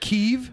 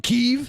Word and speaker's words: Kyiv: do you pronounce it keeve yeah we remember last night we learned that kiev is the way the ukrainians say it and kiev is the way that russians say it well then i'm the